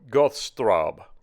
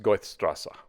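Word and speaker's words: Goethestraße: I pronounce this goth Goths throb that's not right that crazy-looking symbol there is actually two S's together is what that means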